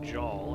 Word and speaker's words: Jaal: I was thinking Hall, because it does actually rhyme with Jaal, and in this case it would be one syllable instead of 2.